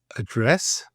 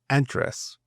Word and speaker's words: address: I would say in the UK address and the Americans Americans would say address and adult in the